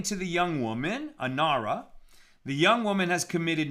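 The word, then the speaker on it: נערה: woman who is raped, it's written nar, a young man who is raped, but it's not. It's talking about a young woman, and we pronounce it nara.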